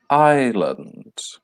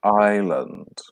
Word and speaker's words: island: so valley river desert island the S is silent there island Canyon Lake mountains cliffs